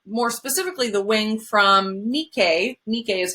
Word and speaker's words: Nike: a wing so more specifically the wing from nikkei nikkei is how you pronounce it in mythology um greek mythology whoops